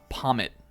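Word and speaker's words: Pawmot: wolf Glick video and he called this one pomet which apparently is the uh actual pronunciation they have them say that in uh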